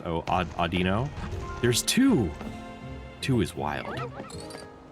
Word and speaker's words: Audino: It's just Arduino.